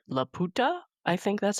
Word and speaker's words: Laputa: So Laputa is how they say it in the English dub, but if I had my way, I would say La puta because that is that means the bitch in Yeah, Spanish.